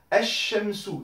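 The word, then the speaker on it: الشمس: Ici, on n'entend plus le soukoun sur le lem. On passe directement du E ici au shin. Sur le L, il ne se prononce pas. Esh Shemsu. Donc j'insiste bien sur le shin.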